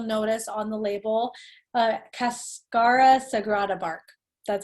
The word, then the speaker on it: cascara sagrada: one herb you'll notice on the label uh cascara sagrada bark that's how you say it this has